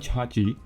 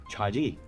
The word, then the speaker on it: CHAGEE: over the years they have changed it to become just Chaji. Some people may call it Chaji. Well, but the point is that they simplified it to just two syllabus, making it easier to pronounce, making it easier to remember.